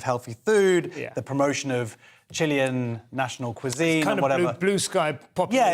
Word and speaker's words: Chile: uh Chile just had Chile do I have to say Chile Chile it's not the American way that's how Christopher Hitchens